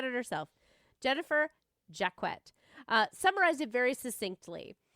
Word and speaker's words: Jacquet: A researcher I came across named Jennifer Jacquet and it is pronounced Jaquet because I was like is this Jaquch? No, I thought I'm doing it wrong. Nope, she said it herself. Jennifer Jacquet, uh, summarize it very succinctly.